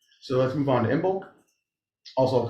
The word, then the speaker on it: Imbolc: Imbolc or Imbolg. Or, yeah, there's a bunch of different ways to say things. I wish Michael was here. Yeah, he I know. pronounces it the best. Imbolg. It's like Imbolg. It's a hard. Imbolg. Imbolc. Imbolg. Imbolg. Like that kind of ish.